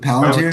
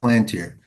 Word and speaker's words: Palantir: No, that was Is it Palantir? Palantir. I think I called it Plantier.